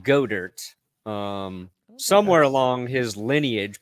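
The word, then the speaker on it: Goedert: I made a space ball it's it's actually pronounced godert um somewhere along his lineage people like actually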